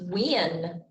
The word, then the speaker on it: when: look at our word when when so if we were blending the word wind we would go good when now this word is actually pronounced like w-e-n wind as in when